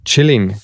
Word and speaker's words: Qilin: This one is the Chilling. This one's a Chilling. That's how you say it in Chinese.